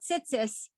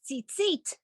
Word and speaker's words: tzitzit: So sometimes you'll hear people saying something about tzitzis. That's really what it's tzitzit, how we pronounce it.